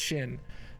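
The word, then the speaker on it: Sjin: Yeah, I think it's pronounced Shin. S-J-I-N.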